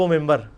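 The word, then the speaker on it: منبر: बनी हुई है मेहराब मेंबर मेंबर के स्पेलिंग क्या है मिन बर लेकिन पढ़ा क्या जाता है क्यों क्योंकि नून के बाद नून साकिन के बाद ब आरहा है यह नहीं होता लिखा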